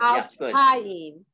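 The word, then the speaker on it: אלפיים: Yes, it's not on the last syllable. Al Payim.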